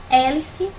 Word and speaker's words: hélice: é paroxítona aqui na segunda palavra hélice que já tá mais fácil para gente porque tem um acento aqui no esse é e eu não sou saber onde é que essa se lá botar o céu a última folia a penúltima e o ué é a antepenúltima e significa que você marcar uma coisinha que não é e o e essa palavra é proparoxítona tá bom e se